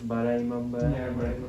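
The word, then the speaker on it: Bara Imambara: And then I went to Bhool Bhulaiya and I think the correct pronunciation is Bara Imamba.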